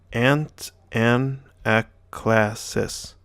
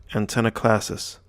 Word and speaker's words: Antanaclasis: a big word so let's break it down and pronounce it so ant n AK class sis antenna classes antenna classes is a